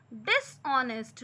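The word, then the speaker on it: dishonest: सिपाही बेईमान नहीं है, सिपाही यानी the soldier is नॉट डिसऑनेस्ट। डिसऑनेस्ट, इसमें हॉनेस्ट नहीं पढ़ते, इसको एच साइलेंट होता है, डिसऑनेस्ट है ना, ऑनेस्ट मतलब ईमानदार, और यहाँ बेईमान यूज है इसलिए आपने डिसऑनेस्ट लिख दिया।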